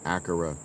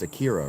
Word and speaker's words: Akira: I pronounced your name Akura in my head. It's Akira, right? The accents on the eye.